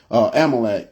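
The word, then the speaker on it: Amalek: the the nation of uh yeah Amite um Amal I'm saying it wrong amalec and this they called the amikit that's why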